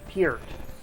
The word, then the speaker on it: Peart: Neil Peart.